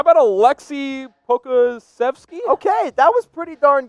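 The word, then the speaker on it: Aleksej Pokuševski: evan harris ambassador devin i'm gonna try to pronounce this yes let's hear it i know you've been practicing how about a lexi pocazefest okay that was pretty darn good now they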